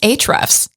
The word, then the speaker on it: Ahrefs: It's actually pronounced Ahrefs.